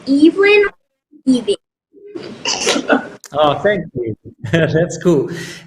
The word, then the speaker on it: Evelyn: way uh yes um my name is pronounced Evelyn oh thank you that's